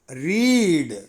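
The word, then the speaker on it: read: மூன்றாவது video verb number 5 படித்தல் படித்தல் வி1 ரீட் வி2 ரெட் வி3 ரெட் வி4 ரீடிங் மீண்டும் ஒரு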